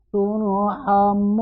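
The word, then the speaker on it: تُرْحَمُونَ: Nah, bisa 3 cara membaca turhamun di sini. Karena ini hukum bacanya adalah mad arid lisukun.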